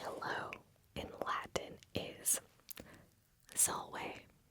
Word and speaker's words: salve: But to say hello in Latin is salve. Salve.